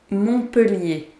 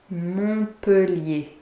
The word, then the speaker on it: Montpellier: Montpellier. Montpellier. So the T is silent here. Montpellier.